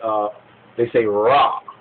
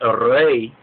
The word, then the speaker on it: Ra: Even the pronunciation of the name, when they say Ra, Ra, Ra. Now, in the Hebrew, to say Ra, Ra, actually means evil, while to say Re, or Re, Re, Re